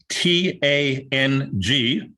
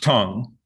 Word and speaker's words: Tang: you probably know um t-a-n-g which we might uh wish to pronounce as uh that tang dynasty is pronounced tong and that's what phil's